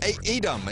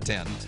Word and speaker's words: Edam: Taylor, you knew what you were talking about, but you said it wrong. You said 10.